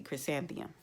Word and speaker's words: Chrysanthemum: Chris and Theum, 4 syllables, easy. Chrysanthemum.